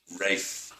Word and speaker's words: Ralph: But I believe my father named me after his step-grandfather, whose name was Rafe Eastwood, nicknamed Rusty, but spelled Ralph.